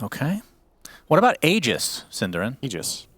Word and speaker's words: Aegis: what about AIS cerin egis it's egis technically but ice frog himself said no I want everyone to mispronounce it as Aegis so we do out